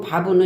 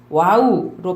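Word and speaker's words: וָו: 이제 가로의 선이 왼쪽에서 오른쪽으로 쓸 때 살짝 아래로 내려가고, 그것이 이제 고대 히브리어에서 바브는 와우로 발음이 되기도 해요. 그래서 어떤 사람은 바브라고도 읽고 어떤 사람은 와우라고도 읽는다.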